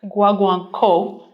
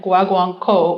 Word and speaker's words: Guaguancó: next composer, Guido Lopez Gavilan, wrote his work, Guaguancó. I was coached on the pronunciation of that by Cosette, so I think I've got it. Guaguancó was written for chamber orchestra first and later arranged for string quartet.